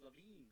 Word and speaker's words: Lavine: No, it's not Lavin. It's Lavine.